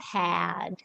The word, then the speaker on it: had: hat had okay yeah it's more of an open a sound had and then there's head